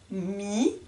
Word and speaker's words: mis: pas la lettre H mis pareil le s est muet et enfin dans le mot riz aussi le Z ému donc je reprends la lecture de cette phrase sarah a mis de la farine dans